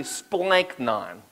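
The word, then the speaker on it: σπλάγχνα: you say it right can you say it with me splank nine you gotta gotta make sure you gotta give the emphasis they're splanking on it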